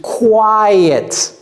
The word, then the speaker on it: quiet: Is quiet. Quiet. Comme s'il y avait un Y là-bas.